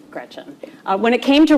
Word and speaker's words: Gretch: Don't let people call you Gretch because it rhymes with wretch.